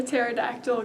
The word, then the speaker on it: pterodactyl: Why couldn't you hear the pterodactyl going to the bathroom? Because the P is silent.